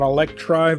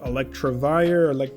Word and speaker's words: Electivire: Not Electrive, but Electivire, however you want to pronounce it.